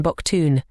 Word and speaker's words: baktun: 20k atuns baktun boktun.